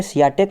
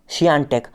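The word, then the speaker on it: Świątek: ईगा, आप इस नाम को प्रोनाउंशिएट करेंगे सियाटेक, मगर इसका असली प्रोनाउंसिएशन होता है शियानटेक। पॉलिश नेम में पोलैंड का नाम है, इसलिए इसको प्रोनाउंशिएट करेंगे शियानटेक, ना कि शियाटेक।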